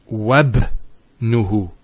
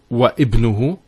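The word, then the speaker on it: وابنه: we're actually reciting it, we don't pronounce this Hamza. We go straight to the ba. So it's wabnuhu. It's not wa ibnuhu. It's wabnuhu. It's like it joins the waw to the word ibn.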